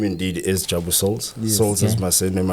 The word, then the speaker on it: Souls: Yes, we've got Jabu Souls. Did I say it correctly? Souls. Souls, yeah. That sounds so international. Jabu Souls. Isn't like a soul. A soul, yeah.